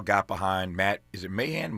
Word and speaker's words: Mahan: Is it Mahan? How do you pronounce it? Mahan, yeah.